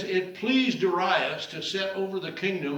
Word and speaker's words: Darius: And I know we normally pronounce it Darius, but that is a Western European pronunciation, not the Hebrew.